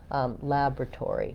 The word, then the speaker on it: laboratory: And then we do say this OR with an OR sound, tory, laboratory. So secondary stress probably here on this tory syllable. Letter Y says the E sound.